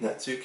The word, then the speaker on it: netsuke: wood and ivory netsuke i think natsuki is how you say it and so these little